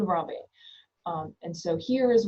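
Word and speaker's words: Ranvier: So a French word so ramier not heard all sorts of different pronunciations but node ramier.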